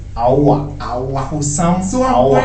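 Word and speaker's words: Aouar: In France, they pronounce it Aoua.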